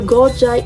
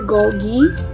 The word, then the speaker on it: Golgi: next up we have the gojai apparatus or golgi and the anyway you pronounce it is correct this is the goji apparatus this pink structure